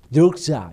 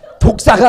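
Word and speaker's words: δόξα: 우리나라는 나쁜 배물 했는데 이게 헬라어 발음으로 녹사 이거예요 예 자 독사가 아니라 녹사 이건데 그게 영광이란 뜻이에요 근데 그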